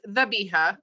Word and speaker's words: Zabiha: So it's pronounced Zabiha, but it's spelled with a Z.